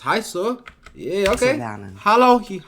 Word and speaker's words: heiße: Hallo, ich heiße Laura.